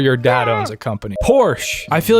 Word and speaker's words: Porsche: Porsche.